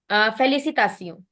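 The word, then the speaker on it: félicitations: please mute yourself I don't know who speaking फैलिसितास okay फैलिसीता because T आई ओ N become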